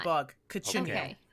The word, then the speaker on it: cochineal: Cochineal. okay. Yeah, that's how you Why pronounce not? the bug. Cochineal.